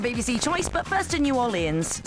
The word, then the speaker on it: New Orleans: choice but first to New Orleans sorry no an American friend said I must pronounce it Norland so come fly with